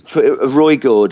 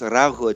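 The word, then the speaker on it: Ruigoord: Roygord or something. Yes, we're just pronouncing it very wrong, I believe. But but it's pronounced Rauhut.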